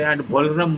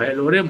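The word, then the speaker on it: ad valorem: ये लटन वर्ड है एड लोरे को लोग गलत बोलते एडम बोल देते हैं एडम एड लोरम होता है एड लोरम एड लोम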